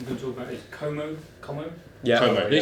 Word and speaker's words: Como: The final game I'm going to talk about is Como.